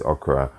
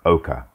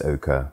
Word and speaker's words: Ochre: known for eating although it's not actually pronounced okra is pronounced oka so before anybody comes correcting me you're saying it wrong you're saying it wrong i know it's oka forgive me i just